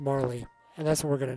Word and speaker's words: Marle: what anyone says for game is pronounced Marlee and that's what we're